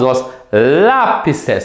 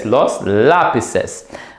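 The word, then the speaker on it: lápices: Z to the C and you simply add es s say but maintain the accent on the a so a Lapis becomes l lapes l lapes and so I'm going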